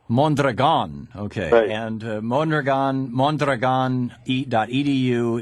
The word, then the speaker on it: Mondragón: do you pronounce mandrian mandron with the accent on the last syllable mandron okay and mandron mandron